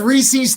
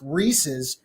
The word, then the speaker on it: Reese's: are reese's so like even though they're pronounced reeses everybody in pennsylvania says reese's i'm from georgia and